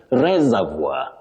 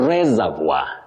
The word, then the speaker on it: reservoir: But this word, which is from French, the correct pronunciation is reservoir. Okay. Reservoir.